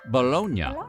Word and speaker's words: Bologna: But in Italy, that city is pronounced Bolognia.